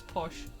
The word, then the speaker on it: poche: Oh yeah, well see, I'm a Oh, sorry, it's pronounced as posh.